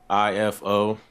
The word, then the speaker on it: Ifo: yeah okay can you pronoun your name and spell it for our bed spellers back here EO pray ALU ifo hold on my fault let me turn this